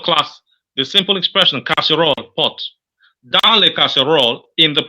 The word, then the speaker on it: casserole: pot pot what does pot mean it means casserole casserole castor oil yes that's c-a-s-s are you